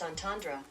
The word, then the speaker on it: entendre: te and ER e that's pronounced entendre entendre oh my gosh I've been calling it the wrong theme the entire video entendre dang it Tara